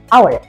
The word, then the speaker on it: hour: Jadi, misalnya ada kata jam yang tulisannya, maka kita akan baca hour. Jadi, huruf H tidak dibunyikan.